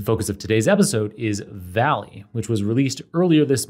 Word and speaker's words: VALL-E: another text-to-speech model and this Valley term it's spelled the same way as open ai's popular Dolly series of text to image models so it's v-a-l-l hyphen e in all caps it's supposed to look like Wally the Pixar robot in